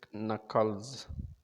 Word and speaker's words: knuckles: knuckles only chatham uh knuckles k is silent so okay it we say knuckles cracking knuckles cursing golly